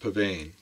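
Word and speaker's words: Psvane: from the the company called ps vein or pronounced pavane they make very high-end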